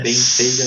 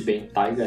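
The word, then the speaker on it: Bentayga: os SUVs Bentley Biga, e a pronúncia é Biga, não existe Ben Tiger, é Biger.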